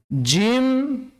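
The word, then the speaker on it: ج: Huruf "J" dalam bahasa Indonesia hanya menggunakan ujung lidah. Namun untuk " Jim", "jim" dalam bahasa Arab ini menggunakan bagian tengah lidah.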